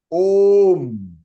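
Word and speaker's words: ओम्: But the actual pronunciation of this Omkar is Om. O plut. Om. Ma nahi hai. Ma is not complete. It is halan.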